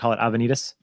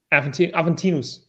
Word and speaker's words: Aventinus: I pronounce it wrong whenever I call it Avenidas. Aventinus. Yeah.